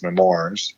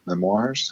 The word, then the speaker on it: memoir: We're going to talk right before we finish tonight's episode about C-3PO's book that came out as memoirs. Memoirs?